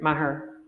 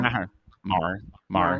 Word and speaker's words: Maher: Maher. How do you say it? Maher? Mar, Mar, Mar. Maher. Yeah, that's very American. It's Maher. But That's okay.